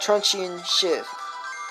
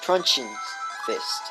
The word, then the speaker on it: Truncheon's Fist: Yeah, that's one thing about Truncheon Shift. Truncheon Fist? Truncheon Fist? Truncheon's Fist. That's how you pronounce it.